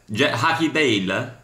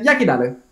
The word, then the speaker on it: Jackie Dale: Haki Dale? No, Yaki Dale.